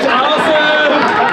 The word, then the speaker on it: Asif: Uh, my name is Asif, it's spelled A S I F like as if.